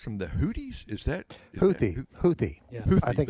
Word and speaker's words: Houthi: And by the way, do you pronounce them the Houthis? Is that Houthi?